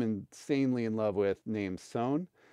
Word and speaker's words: Sohn: in love with named Sohn. And it's spelled kind of like John, but with an S instead of a J. So S-O-H-N.